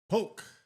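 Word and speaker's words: Polk: And this this guy's last name this guy's last name rhymes with something that you would find in an egg. Poke.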